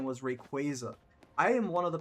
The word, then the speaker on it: Rayquaza: a while but they announced that the proper pronunciation was Rayquaza. I am one of the people who used to call it Rayquaza.